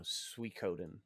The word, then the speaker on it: Suikoden: Is that how you pronounce it? Suikoden? I thought it was Suikoden. No, Suikoden. Suikoden, okay. Yeah. I've been saying it wrong all these years.